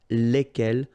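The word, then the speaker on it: lesquelles: And the good news is that phonetically it's lesquels here for the masculine form and then lesquels for the feminine form. All right, so phonetically it's exactly the same when we talk about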